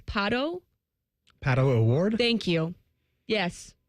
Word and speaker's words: Pato: It's Pato.